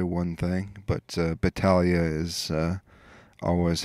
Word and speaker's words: Battaglia: pronounce your last name battalia battalio so uh i've often wondered that because i hear different people pronounce it different ways and i'm always wondering how to pronounce it so it's battalia yeah and uh i think